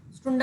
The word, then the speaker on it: Stunde: स्टुंडा होता है वो. कितना क्लियर हुआ? किसी को डाउट? मैम 1 घंटा इसको प्रोनाउंस किस तरह करेंगे?